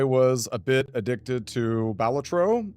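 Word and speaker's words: Balatro: I was a bit addicted to Balletro. Uh which apparently that's how you pronounce it.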